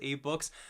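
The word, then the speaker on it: AbeBooks: books, is Abe Books, ABE, I believe it's pronounced Abe Books.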